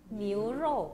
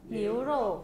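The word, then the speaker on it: 牛肉: 니우루 . 어떻게 발음 하나 요 ? 니우루 .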